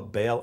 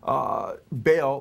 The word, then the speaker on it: Baal: And then Baal, or he says Bel, B-E-L, or Baal, he spells it B-A-A-L, how the Bible spells Baal or Baal, it's pronounced in Hebrew, which is the Canaanite god.